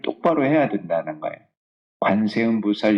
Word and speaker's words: 관세음보살: 똑바로 해야 된다는 거예요 관세음보살 이렇게 해야지 안샘보살 이렇게 안 돼요 바른 눈물 똑바로 해야